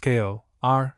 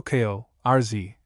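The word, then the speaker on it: corps: The singular is pronounced kale r. The plural kale rz deer gross grouse hose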